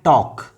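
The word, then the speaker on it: talk: जैसे हम कहते हैं टॉक ऐसे एल साइलेंट होता है तो जब हम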